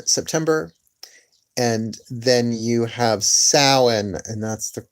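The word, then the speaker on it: Samhain: autumnal equinox in September and then you have salan and that's the correct pronunciation salan close to Halloween but not exactly Halloween they're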